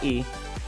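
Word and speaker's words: い: ठीक है, अब आता है आपका ई। अब ई को हम लिखते हैं, एक और वाला लिख के दिखाता हूँ। पहले ये वाला आएगा, फिर ये वाला डंडा। मतलब आपको फॉर्मेट ये यूज़ करना है, पहले आपको ये वाला डंडा खींचना है, फिर ये वाला। तो ये गाइज आपका बन जाएगा ई, और इसे लिखेंगे हम आई।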